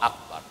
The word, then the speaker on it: Akbar: Allahu Akbar, Allahu Akbar, jangan Allahu Akbar, jangan ya. Yang ketujuh, adamu madibai Akbar, tidak boleh memanjangkan huruf ba pada lafaz Akbar.